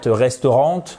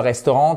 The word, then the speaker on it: restaurant: Friday good for expensive frid one time per week eat out a restaurant et pas restaurant non c'est pas restaurant c'est restaurant every frid nice.